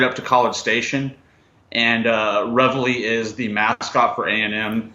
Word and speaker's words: Reveille: different ways sure it's a French restaurant it's reviled we're just kidding it's revelry barbecue company exactly it's named after that is